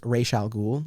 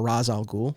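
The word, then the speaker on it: Ra's al Ghul: batman and superman versus racial ghoul or raz al-ghul depending on your pronunciation i did throw in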